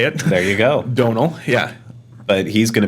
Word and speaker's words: Domhnall: Domhnall Gleeson. Is that how you say it? I Googled it before the last time I had to say it. There you go. Domhnall, yeah.